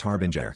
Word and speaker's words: harbinger: Nick, it's pronounced Harbinger, not Harbringer.